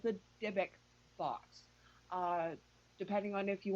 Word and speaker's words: Dybbuk: And if you actually Google it, it's called the Dybbuk box. Depending on if you want to spell it with a Y or an I, it's Dibbuk.